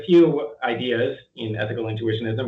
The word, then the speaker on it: intuitionism: is the uh thesis of your book ethical intuitionism yeah um by the way i'm glad that you pronounced that correctly because about half of uh